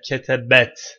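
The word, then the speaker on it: كتبت: Ketebti veya ketebet. Bunu doğru okunuşu. Ketebet olur.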